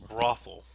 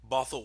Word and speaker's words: Bothell: Often mispronounced by many as Brothel, Washington, or Brothel. But Bothell, Washington, ladies and gentlemen, is a city located in the suburbs of Seattle, Washington.